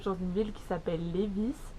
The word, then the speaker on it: Lévis: une ville qui s'appelle lévis je vois que ça se prononce comme ça où les vies bref et c'est juste